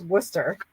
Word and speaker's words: Worcester: always said Worcester, and it's not Worcester, it's Worcester. But it's spelled like Worcester. Oh, really? Like the sauce? Yeah. Yeah. Worcestershire sauce? Yeah, kind of. Except it's ER, not the SHIRE. Like it's not the Shire. It's just stir.